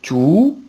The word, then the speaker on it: tout: Tout avec T-O-U-T à la fin et on ne prononce pas le T sauf s'il y a une liaison.